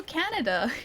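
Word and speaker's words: Kaneda: That's how they say it though. It's Castle Canada. It's start with a K. And it's spelled slightly differently.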